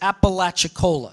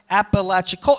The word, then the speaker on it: Apalachicola: And people pronounce this as Apalachicola, yeah? But there is a sense, yeah, where we have sort of three units, Apalachicola, Apalachicola. And these are called feet.